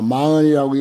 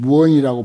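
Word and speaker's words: 妄言: 47쪽 밑에 줄 담담망언이나 망언이라고 여기 이제 우리가 익숙한 말로 망언이라고 했는데 이 사실은 무언이라고 발음해야 돼요. 무자 없을 없다고 하면은 무라고 이렇게 발음합니다.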